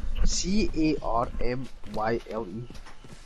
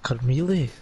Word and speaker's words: Carmyle: C A R M Y L E. Oh, Carmyle.